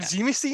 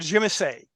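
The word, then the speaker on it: Tzimisce: he said okay because I've heard zimi C and I've heard Jimmy say yeah you should say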